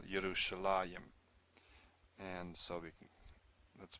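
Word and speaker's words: ירושלים: Yerushalah, you'd expect a yud there. Sometimes you do. There's a few cases we do see a yud here, but it's pronounced still Yerushalayim.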